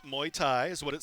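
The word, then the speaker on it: Muay Thai: children confidence discipline jiu-jitsu kickboxing Scholl and Kempo Wyatt I pronounced muy Thai is what it says I got I was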